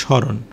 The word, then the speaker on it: স্মরণ: এখানে সরাসরি উচ্চারণ হবে স্মরণ। মানে ম ফলা যে একটা উচ্চারণ সেটা থাকবে না।